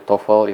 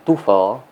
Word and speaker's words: TOEFL: Yang pertama adalah pengucapan dari tofel itu sendiri. Jadi, tofel itu diucapkan tofel bukan diucapkan tufel dengan menggunakan U. Mungkin kebiasaan antara huruf O dan E jadi U tufel, tetapi pengucapan yang benar adalah tofel.